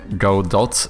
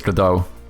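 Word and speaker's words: Godot: I always read it as go dot. Oh yeah, I'm pretty sure it's GDAU.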